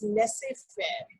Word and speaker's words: laissez-faire: The third style of leadership is laissez-faire. This is how we pronounce children, laissez-faire or free-rein leader.